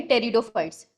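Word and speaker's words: pteridophytes: Algae, ब्रायोफाइट, फिर आएंगे टेरिडोफाइट्स। ठीक है, पी साइलेंट होता है।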